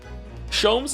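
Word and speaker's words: Sholmes: Shoms is pronounced the same as jams.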